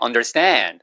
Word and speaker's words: understand: 자, 그다음에는 이해하다 할 때 understand. 음. Understand. Stand 아니에요. Under 때 발음하세요.